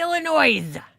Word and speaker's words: Illinois: But it's like my husband says Illinois, and I'm like, it's Illinois. There's no S.